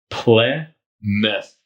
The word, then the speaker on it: Plymouth: looks like you're saying looks like if you just look at the word it's it looks like ply mouth that's not correct you pronounce it Plymouth play myth Plymouth so Plymouth Massachusetts the